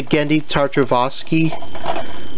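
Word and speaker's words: Genndy Tartakovsky: wars but just clone wars this is the gandhi tartrovoski this is how you say his name the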